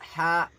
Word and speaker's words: ح: Next letter is ha. Ha is a throat letter. Pronounce it from the middle part of the throat cleanly.